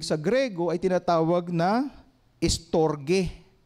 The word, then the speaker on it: storge: Another ano, another word ng pag-ibig sa Griego ay tinatawag na storge. S t o r g e. Storge o storhe. 'Yung ibang pronunciation.